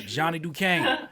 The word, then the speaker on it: Johnny Dukane: today i have the opportunity to speak to johnny duquesne that's how i pronounce it correct yes sir johnny john duquesne